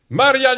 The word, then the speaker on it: Marian: « Hey, Yannick, Marianne est. Marianne, pour les Français, c'est une femme, et pour nous, c'est un homme. Marian. Mais on prononce toutes les lettres à cause de M.